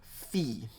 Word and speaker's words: phi: oopsilon we have a letter called fee okay fee and this is usually written ph it's spelled p h i fee but it's the ph as in like physics or phonics pretty much an english f sound you can think of